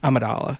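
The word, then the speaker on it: Amidala: Amadala.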